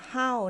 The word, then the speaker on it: 好: เสียง ที่ 4 ค่ะ ก็ คือ คำ ว่า How นั่น เอง นะ คะ How ไป ดู กัน